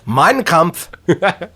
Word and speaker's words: Mein Kampf: É Mein Kampf. E olha que eu tenho uma pronúncia nazista, inclusive.